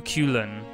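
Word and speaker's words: Cúchulainn: at this guy and his name is apparently pronounced ku ku ku kelan ku ku ku coolin and thank you for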